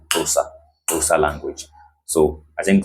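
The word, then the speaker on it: Xhosa: x h o s a voice but it's pronounced closer closer language.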